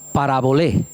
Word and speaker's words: parabolé: Pues la parábola viene de la palabra parabolé con acento en la e parabolé y significa palabra.